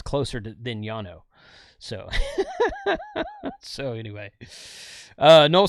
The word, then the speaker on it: Llano: And it's a Spanish word, and double L in Spanish is pronounced like a Y.